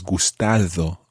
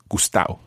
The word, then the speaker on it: gustado: is the same as gustado, okay? And the D sound in there is the way it's written and often it's pronounced as gustao. Gustao.